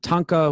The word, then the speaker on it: tanka: right there short song it's pronounced tanka this is at the